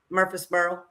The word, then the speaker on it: Murfreesboro: Murfreesboro.